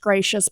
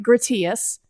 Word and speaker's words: Gratias: a s calm so my last name looks like grittiest but it's pronounced gracious so look me up on gracious calm and they got